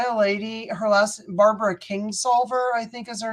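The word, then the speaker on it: Kingsolver: that's fine it's by Barbara King's lover or King solver I'm sure sorry not King's lover sorry um and it's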